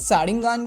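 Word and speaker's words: Sharingan: Because तुमने अगर notice किया होगा तो सारिंगान को ये लोग सारिंगन बोल रहे हैं एंड चाकरा जो है उसको चक्र बोल रहे हैं, बट मेरे हिसाब से एटलीस्ट सारिंगान को मतलब सारिंगन नहीं बोलना चाहिए।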